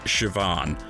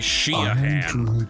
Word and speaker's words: Siobhan: and the voice actor totally mispronounced Siobhan. The main character's name is Atticus, but his old Gaelic name from 2,000 years before. They do. Oh. He was saying Sheahan.